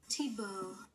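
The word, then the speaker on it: Thibault: flicker Tebow aka anonymous I had to Google Tebow's name to make sure I was pronouncing it right it spelled like this Tebow okay I was right it's Tebow and Nate aka bellwether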